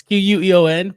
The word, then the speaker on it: Queon: I know it's Queon, but Mhm. when you look at it, you don't see Quan.